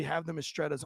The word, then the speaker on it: Mistretta: Am I saying Mistretta case correctly? You're saying, you're mispronouncing case slightly, but Mistretta is correct, yes.